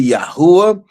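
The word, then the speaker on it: יה: That's why some people say Yahweh, some people say Yahwh, some people say Yahawah. But one thing that everybody agrees on is that first part of the name, Yah.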